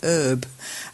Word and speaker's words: herb: English and British English in American English the H in herb is silent they really do say herb uh and in British